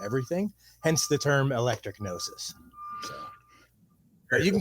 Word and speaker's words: Gnosis: Gnosis. Gnosis. Oh, Gnosis. The G is silent.